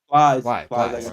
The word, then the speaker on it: Plies: A rapper named Plies. Please? How did you pronounce it? Plies.